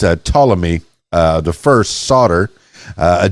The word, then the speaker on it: Ptolemy: a direct descendant of I think the p is silent p-t-o-l-e-m-e it's a Ptolemy uh the first solder